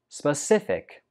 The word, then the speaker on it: specific: 15 is specific. Specific. The stress goes on the second syllable. Specific. Specific. Some students pronounce this like specific, but that's not right. The first syllable is pronounced sp.